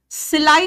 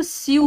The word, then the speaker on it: sew: दूसरा सिलाई मशीन, बेटा स्विंग मशीन बोल देते हो आप लोग, क्योंकि SEW सोचते हो स्यू होता है। बेटा SEW को इंग्लिश में कहते हैं सो, SO सो का ही प्रोनाउंसिएशन है SEW, सोइंग मशीन होता है।